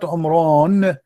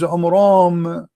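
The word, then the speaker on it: Amram: First of all, the father of Moses, his name is not Umran, his name is Umram, according to the so he got the name wrong.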